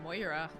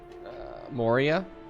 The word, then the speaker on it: Moria: The Mines of Moira. Moria. Moria. I always pronounce that wrong.